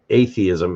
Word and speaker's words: atheism: To me, it should be atheism, not atheism, because when you pronounce it atheism, it sounds like, it sounds a little too much like it's athe with an ism on the end, which doesn't really mean anything.